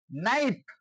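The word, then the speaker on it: knife: কেটাকে আমরা বাদ দিয়ে কি করছি, দেন্তেন্নটা উচ্চারণ হয়ে আসছে এন ও সি K, knock, টোকা দেয়া। এক্সাম্পল আরেকটা দেওয়া যায়, নাইফ অর্থ ছুরি।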